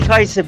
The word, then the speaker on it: Kajsa: So Kajsa's our friend. She's all over the internet. She's saving people's lives. It's pronounced Kajsa.